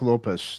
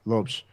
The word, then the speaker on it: Lopes: One name, Mark Lopez. That's right, Lopes. Yeah, Lopes. Don't say it wrong.